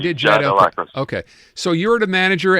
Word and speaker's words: El-Akhras: I'm pronouncing that wrong. It's El Akras.